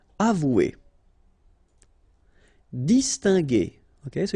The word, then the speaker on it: distinguer: Okay, so it's interesting here because if you see carefully, you've got this G, and after that here, you've got E. So normally, if you would have this G and E together, you would have the sound je. Okay, and the technique in French is to put this U between the two to get the sound G. Alright?